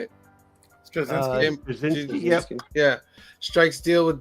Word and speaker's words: Straczynski: Straczynski, yep.